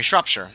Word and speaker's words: Shropshire: All the shires are pronounced Shire. Sorry, Shropshire.